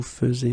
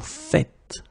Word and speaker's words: faites: The first one here for pronunciation, nous faisons, and the second one here because you write it like that and it's not vous faisez but vous faites.